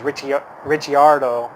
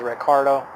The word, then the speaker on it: Ricciardo: of also Daniel Ricciardo his name is Richie Rich yard oh but pronounces Ricardo is Australian he used